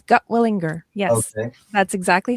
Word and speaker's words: Gutwillinger: Tell the world your last name because I butchered it and I apologize. You did not. You did very well. It's Gutwillinger.